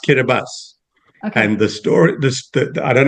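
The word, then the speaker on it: Kiribati: So, so, so Kabibus is spelled K I R I B- A TI, which is why you said Kabati, but it's actually pronounced Kabas.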